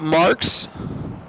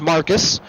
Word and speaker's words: Marques: night Dan Cox and Luke marks Marcus I'm sorry I'm I'm reading then he told me how to pronounce it it's not I'm not pronouncing it how it's supposed to be it is Marcus his and they're both